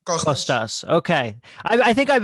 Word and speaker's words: Kostas: Is it Kostas or Kostas? How do you actually pronounce it? The whole name is Konstantinos, but it's too difficult for anyone to pronounce. So the name is Kostas. Kostas. What you said sounds the same to me. The two things you said, Kostas. Kostas or Kostas? The second one, Kostas.